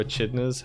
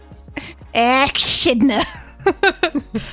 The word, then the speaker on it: echidna: Like, I think also echidnas have puggles as well.